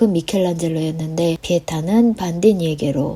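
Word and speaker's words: Michelangelo: 시대를 한 시대를 풍미한 미켈란젤로 아 그리고 아시는 분은 아실 텐데 영어권 사람들은 마이클안젤로 이렇게 발음하니이 점 주의하세요 대학때 여행 가서 같은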